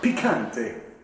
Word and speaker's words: picante: You gotta say picante. It's how you pronounce it.